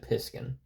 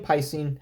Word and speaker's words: Piscine: I always said Piskin, but we're here to piss everyone off, huh? With pronunciations today, so Piskin, Piscine, however you want to say it.